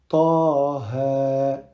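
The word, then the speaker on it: طه: Ensuite, Taha. Donc là, 2 temps, 2 temps. Taha.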